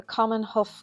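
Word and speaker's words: Common Haugh: So once in Hawick, we parked up at the Common Huff car park, that's how you say it, which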